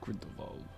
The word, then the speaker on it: Grindelwald: Considering I think they call him Grindelwald, that would be German because W's in German are pronounced with a V.